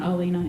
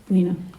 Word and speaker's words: Elena: my name's Elena it's not alinaa it's Lena I sometimes say that when I'm nervous I always say my name is uh Elena and then everybody thinks my name is alinaa it is not it's Lena um but yeah uh